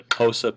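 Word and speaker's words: Xhosa: areas of European settlement these are the kosa people um the X there is the transliteration of one of the Clicks in this language um so that's why it's spelled that way but the kosa people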